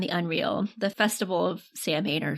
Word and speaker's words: Samhain: The festival of Samhain, or Samhain, I think is how it's actually pronounced.